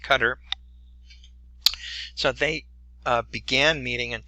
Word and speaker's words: Qatar: met in Doha Qatar that's how you pronounced that Q a ta are that country it's pronounced Qatar so they began meeting